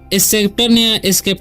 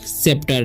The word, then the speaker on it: sceptre: ठीक है, तो इसे स्केप्टर नहीं पढ़ना है, इसे पढ़ते हैं हम लोग सेप्टर। ठीक है, इसे पढ़ते हैं हम सेप्टर। ओके, तो इसमें जो है सी साइलेंट है।